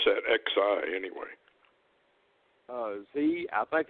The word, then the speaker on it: Xi: How do you pronounce that, XI, anyway? Z.